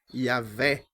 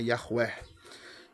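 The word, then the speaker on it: Yahweh: E aí vem o nome Yahvé, Yahué, né? No original, a pronúncia mais próxima que a gente tem é Yahuer, né?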